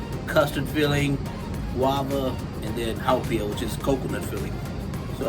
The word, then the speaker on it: haupia: And hopia. It's actually pronounced haupia. It's different from the hopia, the Filipino dessert.